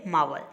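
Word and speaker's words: marvel: यहाँ पे आर जो है वो साइलेंट है, इसे अपन कहेंगे मावल।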